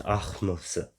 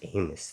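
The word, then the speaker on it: Ahmose: the time from Amos to amenhotep II it's ahmosa that's it's not pronounced Amos that's not even close reign of sweet most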